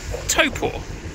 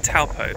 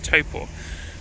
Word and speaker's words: Taupo: site that is Lake taupo good morning from Topo which is how it's pronounced I kept calling it taupo but I'm told it's taupo we are standing in a super volcano let